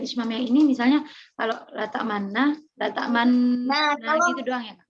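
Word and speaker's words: لا تأمنا: Maka membacanya bagaimana? Latak mana. Ada gerakan untuk stay di bibir sini, kemudian maju, kemudian stay lagi.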